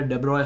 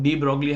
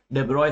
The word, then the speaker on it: de Broglie: वाला हूं जो है डेब्रॉय हाइपोथेसिस। इसे कई लोग डी ब्रॉगली हाइपोथेसिस भी बोलते हैं, बट इसका एक्चुअल प्रोनाउंसिएशन है डेब्रॉय हाइपोथेसिस।